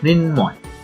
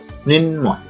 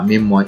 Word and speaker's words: মৃন্ময়: এর সঠিক উচ্চারণ হচ্ছে মৃন্ময়। মৃন্ময়। অনেকে বলে মৃন্ময় বা মিমময়, এরকম উচ্চারণ করে থাকে, কিন্তু আসলে সঠিক উচ্চারণ হচ্ছে মৃন্ময়।